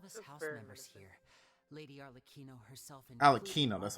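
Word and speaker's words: Arlecchino: prophecy all of us house members here lady AR alino that's how you say her name okay we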